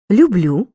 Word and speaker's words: люблю: любити люблю любимо любитимуть часто в дієсловах першої особи однини я наголос падає на останній склад люблю роблю кажу несу зверни